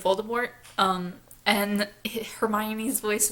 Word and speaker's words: Voldemort: on Jim feels nourishing he pronounces some things very strangely it drives me crazy every time he says volta more instead of Voldemort um and Hermione his